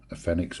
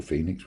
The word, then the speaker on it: Fenix: Hi folks, today we've got a Fenix or Phoenix, whichever way you want to pronounce it, FD41 to have a look at.